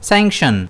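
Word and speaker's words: sanction: इसे हम प्रोनाउंस करेंगे सेंशन। इसमें स्ट्रेस जो है वो एस पर रहेगा।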